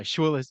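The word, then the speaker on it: Schwules Museum: board of director for the how do you pronounce the museum then shus Museum there you go schis Museum very German is it in Germany it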